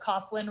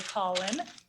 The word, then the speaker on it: Coughlin: Coughlin Ranch, again, people often mispronounce this. They call it Coughlin Ranch, but it's really Coughlin.